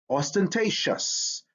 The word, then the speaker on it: ostentatious: or t i'm sorry c or t before the suffix i o u s sounds like chess so we have t i o u s facitious shus ostentatious t i o u